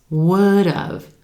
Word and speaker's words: would've: Would have becomes would've, would've. Again, it sounds like a two-syllable word, right? With emphasis on that as in would, and that second syllable is going to sound like dove, with the D consonant sound at the beginning of that syllable.